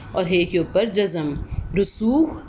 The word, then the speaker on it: رسوخ: ہے کے اوپر جزم۔ رسوخ، رے کے اوپر پیش، سین کے اوپر پیش، واو اور خے کے اوپر جزم۔ منطق لفظ ہوتا